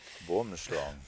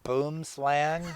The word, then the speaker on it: boomslang: Boomschlang. And Alex, how would the Americans pronounce that? Boomslang.